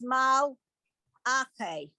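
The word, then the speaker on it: מַלְאָךְ: Ache, mal, ache, mal, la, no, mal, ache, mal, lache, Okay, the last one, remember, it's mal, ache.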